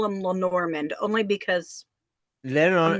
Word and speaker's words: Lenormand: Yeah, I'm very excited about the Lenormand, because like I know nothing about the Lennies, and the most I know is there's 36 cards.